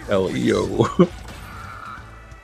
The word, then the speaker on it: El Hijo: The next Casey 3 more controversy, and not even I can believe Casey did this, was for El Hijo and is pronouncing it El Io. That's good.